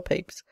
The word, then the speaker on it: Pepys: The most probable explanation is that the name in the 17th century was either pronounced Pips or Papes, for both the forms of A and E would represent the latter pronunciation.